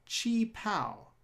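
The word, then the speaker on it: qipao: her very distinctive blue colored gown called a chi pal that's the right way to pronounce that word by the way it's blue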